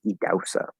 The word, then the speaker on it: Idahosa: Idahosa Ness. Spelled Idahosa, but it's pronounced Idausa.